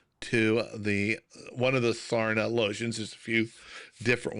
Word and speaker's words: Sarna: Yeah, SARNA. And I'm going to add it right there in the chat. Oh, I may have said Erna. Yeah, Sarna.